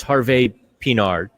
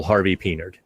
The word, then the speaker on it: Harvey-Pinard: And if you want to say the French way, it's Harvey Pinard. Or he gave us permission just to Americanize it. Raphael Harvey Pinard. He gave us permission to to pronounce it just, you know, fullon Yinszer. So, you're not wrong either way.